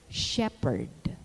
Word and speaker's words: shepherd: h in words sounded sometimes it is soundless in the initial position like the words honest honor air and in the unaccented medial position like vehicle or shepherd the lateral law to